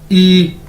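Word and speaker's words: 一: क्या कहते हैं, EYI, ई। प्रोनाउंस कैसे करेंगे, जिस तरह इंग्लिश का ई होता है, ई मतलब क्या, 1 यानी एक, ई 1 यानी एक।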